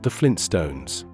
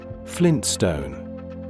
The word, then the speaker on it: Flintstone: The first T, the one after the N, tends to be very lightly pronounced. In connected speech, the tongue touches the ridge behind the upper teeth briefly and then moves quickly into the S. The transition is fast.